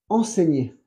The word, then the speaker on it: enseigner: Y el verbo al infinitivo, el verbo enseñar es enseigner. Enseigner. Ouais. Con el sonido ñe, la ñe, en francés es el G más N, como España.